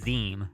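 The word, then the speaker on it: Zzyym: x on their passport i think it's pronounced zim i think that's how you say the last name resign or something like that z-z-y-y-m all right well that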